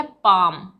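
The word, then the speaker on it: palm: एल आया है तो यहां पे यह है पाम एल एल साइलेंट है पाम इसी तरह से सी एम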